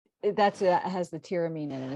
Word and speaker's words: tyramine: stimulant and you'll find tyramine or tyramine it's sometimes pronounced in foods like aged